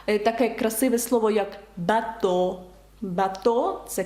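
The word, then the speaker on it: bateau: як тулуз Тулуза так таке красиве слово як бато бато - це корабель і ви бачите наприкінці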